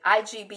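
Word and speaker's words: Igbo: heritage by learning ink bow ekabo it behind pronounce it IG bo is I like Nigeria who is somewhere in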